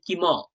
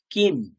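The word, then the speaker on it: কিম্: কি কোশ্চেন করছে দেখুন, ভবতঃ নাম কিম, মকারের নিচে হলন্ত আছে, তাই জন্য কিম এরকমটা হবে না, কিম মকারের হাফ উচ্চারণ হয়ে যাবে।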